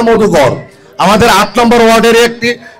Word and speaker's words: মধুগর: সজল আছে ছোট ভাই সজল আমি মনে হয় উচ্চারণটা ভুল করেছি মধুখালী না মধুগর আমাদের আট নম্বর ওয়ার্ডের একটি গ্রাম মধুগর আমি